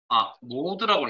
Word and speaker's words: MOD: 자, 밑에 MOD 빈셀 선택하시고 나머지 관함수 MOD 수식에 함수삽입 MOD라는 함수 하시고 모드라고 읽을 겁니다.